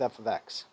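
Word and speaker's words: f(x): You don't say f parentheses x, although if you did,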